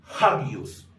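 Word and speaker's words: ἅγιος: manera por otro lado el espíritu áspero sí altera la pronunciación de la palabra por qué Porque este espíritu se va a pronunciar como si esta palabra comenzara con el sonido de una J Por ese motivo aquí tenemos esta palabra que se leería de la siguiente manera hagios no se leería agios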